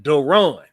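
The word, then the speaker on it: DaRon: Duron Gilbert and his name is actually Duron because of how they spell it. Capital D, lowercase A, capital R, lowercase O N.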